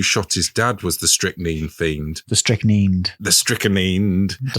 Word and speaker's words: strychnine: Yep, I think it's strychnine in British English, but strychnine in American English.